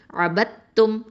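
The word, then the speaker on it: عَبَدتُّم: தாலுடைய உச்சரிப்பை வந்து நம்ம சொல்லவே கூடாது. அபத்தும் அப்படின்னு தான் சொல்லணும்.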